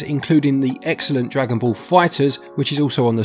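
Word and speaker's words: FighterZ: the excellent Dragon Ball Fighters, which is also on the Switch, and makes the point of how to pronounce the Z moot by having it act as an S, which is a double win.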